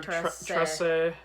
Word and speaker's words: Trese: I'm done trying to pronounce it. That's what I think. I'm pretty sure Nuno called her Trese. Yeah. Trese.